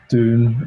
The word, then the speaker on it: Dune: But even when I say June with like a D, I still get confused because people kind of think, are you on about the month here? And I think, no, Yeah. June. Have you seen June? But then it still sounds like J.